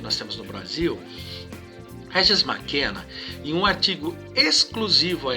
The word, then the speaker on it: McKenna: Mac de McDonald's, McKenna. A pronúncia é mais ou menos assim, tá certo?